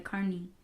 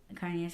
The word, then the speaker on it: carne: that I mean Carney carne all the fries so you said it different right now that's the right way to say it Carney carne it's carne I said that yeah car